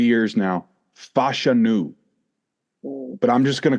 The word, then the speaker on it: Fashanu: So I got to start it off with this, the pronunciation. I was saying it wrong for 3 years now. Fashanu.